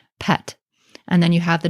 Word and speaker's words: pt: for sky which is spelled with a P and a T also and we pronounce this in modern times pet and then you have